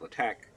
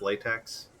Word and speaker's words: LaTeX: my love-hate relationship with LaTeX and building out this. You mean it's not pronounced latex? I wish it was pronounced latex, but no, it's just pronounced LaTeX, and people get really nerdy about it.